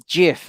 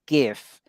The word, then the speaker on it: GIF: he also he also says Jeff and not GIF which is and he's probably